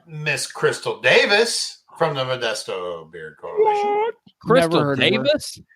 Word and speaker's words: Modesto: Everyone knows it's Modesto.